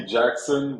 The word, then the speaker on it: Jacquesson: there's your last name it's basically Jackson but spelled like like French people would spell it yeah exactly well cool